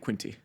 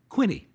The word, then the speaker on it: Quinte: The Bay of Quinte. Right. That's what I would call it, too. But if you live there, it's called the Bay of "Quinie." Okay. They don't really pronounce the "T."